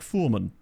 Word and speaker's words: Furman: It's Furman driving through. Alexander Furman! That is an incredibly good goal. Apparently his name's actually pronounced more like Foreman, from what I've heard.